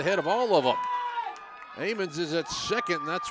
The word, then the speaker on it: Ammons: It says it's pronounced Ammons.